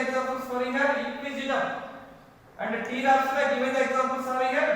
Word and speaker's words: Pteropsida: Pteropsida. P is silent word.